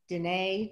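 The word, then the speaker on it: Diné: the important traditions of Dine, did I pronounce that right as well? Mm-hmm. Yes.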